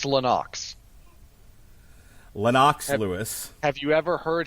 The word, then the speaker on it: Lennox: first name correctly then how am I not pronouncing Lennox right it's loox Lenox Lewis have you ever heard him say it